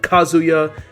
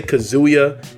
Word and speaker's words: Kazuya: had jyn you had kazuya I always say kazuya I'm saying it wrong for the longest I kept saying kazuya but really it's called kazuya right kazuya mashima as well